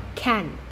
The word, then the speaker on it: can't: น ะ ค ะ พู ด ต ร ง ค ำ ว่ า can't เ นี่ ย พี่ ต้ อ ง อ